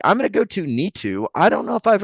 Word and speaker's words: Neetu: And hopefully I'm pronouncing that correct. Yes, you pronounced it correctly. It is me too. Neetu.